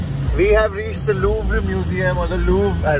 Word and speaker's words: Louvre: It's just Louvre. अरे Louvre ही है यार. Louvre नहीं है. This is the typical French pronunciation. Louvre. आर है तो end में बोलता रहे वो.